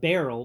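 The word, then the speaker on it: BeReal: I mean, it's pronounced barrel, but it's freaking French. So I pronounce it Be Real.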